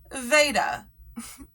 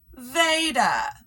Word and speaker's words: Vada: them other than ekc Vada whose name is actually pronounced Veda I do think that it's just plain respectful to call someone by their known given name or whatever they like to be called by and she has definitely sat on more than one occasion her name is pronounced with a long a Veda who's also new